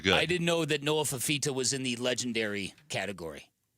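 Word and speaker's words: Fifita: It rhymes with Moa Mamita. Noah Fafita.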